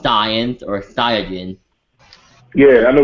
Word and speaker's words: Saiyan: But I'm like, it's, you know, and just like the Saiyans, I'm like, they're not called Saiyans, and they're called Saiyans or Saiyajin.